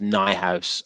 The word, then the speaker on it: Neuhaus: He speaks German. It's pronounced Neuhaus.